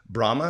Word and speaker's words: Brahma: At 32 years old, after a successful career with Anheuser-Busch and Brazil's Brahma, is that how you say it? Yep. Brahma Brewery, you made it your life's mission to revive your family's legacy.